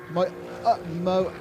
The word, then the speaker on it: Moiola: Miguel, it's not Miguel Molina, is it? It's Miguel Moiola. I can't pronounce that. Moiola.